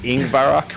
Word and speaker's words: Yngvarrok: Apparently, yeah, the Jack's name is Yngvarrok. We pronounce the Y like an I.